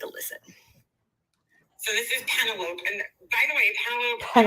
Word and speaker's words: Penelope: I understand there are a lot of syllables in my name, but it's actually pronounced Penelope.